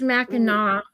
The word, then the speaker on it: Mackinac: I think my and the parents pronounced it Mackinac. yeah, it's Mackinac.